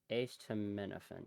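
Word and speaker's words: acetaminophen: I think yeah ace to minofan. Yeah, that should be the correct pronunciation.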